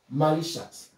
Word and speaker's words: malicious: We have a word like malicious, malicious, malicious. So our stress is on the L, ma, it goes up, licious, malicious, malicious. And you see that we have IOU.